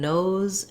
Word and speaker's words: nose: Nose does follow the rule of when we have a silent E at the end of the word, the letter often will say its name. So for an O word like nose or code, letter O says the name of the vowel. It says that diphthong O.